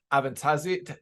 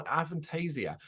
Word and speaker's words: Avantasia: immense like I'm still constantly Blown Away by Avant tazik I keep saying it wrong adventasia um and it's one of those bands that